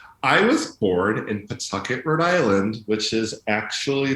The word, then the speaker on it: Pawtucket: How do you go from a young biracial boy in Pawtucket, is that right? It's really hard to pronounce it. The W is silent. Oh. It's Pawtucket. Pawtucket.